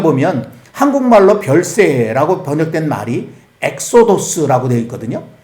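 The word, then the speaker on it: ἔξοδος: 이 엑소더스라고 영어로 발음하는 이 말이 이제 헬라어로는 엑소도스라고 그렇게 돼 있거든요.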